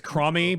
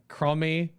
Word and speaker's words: Chromie: Her name is Cromie, by the way, on this when he's around. You remember, Nobbel? Cromie.